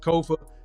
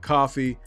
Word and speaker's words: Kofa: I am your humble host, Kofa, Kofa, not coffee, not, not Kofi, or any variation thereof. Kofa rhymes with sofa.